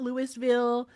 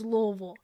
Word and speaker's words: Louisville: you say it there's there is no other way to say Louisville other than Louisville that's it it's not Lewisville it's not Louisville it's Louisville that's how you say it thank you Naya for